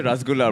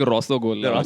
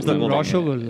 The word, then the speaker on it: Rosogolla: dessert, I'll say Rasgulla, bro. I don't You do have to say it like Rosogolla. Rashogolla.